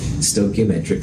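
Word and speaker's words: stoichiometric: stochiometric coefficients and you'll you never have to spell it but that's how you say it stochiometric coefficients and they tell you the relative amounts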